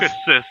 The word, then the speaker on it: Caucasus: Yeah, Scott, you have Caucasus, I believe, is the correct pronunciation of that.